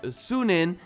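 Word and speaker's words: Sýnin: And Ashraf also notes that we can use our bird Sunin, and this is how you pronounce it, by the way, to distract enemies and then maybe sneak past them.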